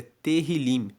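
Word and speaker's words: Tehilim: está em hebraico, o título de Salmos é Terrilim. Se escreve T E H I L I M.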